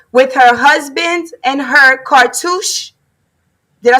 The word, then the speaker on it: cartouche: And she got hers with her husband and her cartouche.